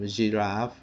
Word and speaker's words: giraffe: ไ ท ย น ะ ค รั บ giraffe อ อ ก เ สี ย ง เ